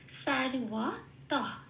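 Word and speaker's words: সর্বতঃ: ত হো এটা নয়, তহ। এই যে তহ বললাম, হয় হসন্তটা তয়ের সাথে জুড়ে উচ্চারিত হয়ে গেল। তাহলে শব্দটা কি পেলাম? উচ্চারণটা সারওয়া তহ, এটা।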